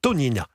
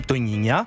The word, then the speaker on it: Tognina: Elle s'appelle, est-ce que je le prononce bien, Tonina. Eh ben oui, Tonina, formidable.